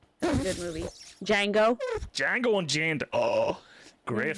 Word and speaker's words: Django: that's silent good movie django django and janda oh great phone one of my favorite my favorites is when he goes the d is silent you hail billy and